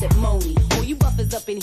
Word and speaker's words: Monie: Pronounce it Moni.